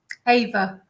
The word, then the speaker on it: Ewa: Is it Ewa or Ewa? Ava. Ava, sorry, like literally.